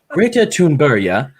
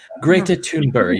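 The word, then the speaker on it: Greta Thunberg: and the whole time this woman decided that she was going to pronounce greta thundberg the right way as if she was where greta thundberg is from and so the whole time she was going greater toonberry greater tombury yeah and i was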